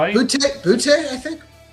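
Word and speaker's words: Boutte: I know it's spelled B O U TTE, but it's not pronounced the way it looks, right? Bout. Bouty, I think. Yeah, we we'll go with that. Um, bout, not booty.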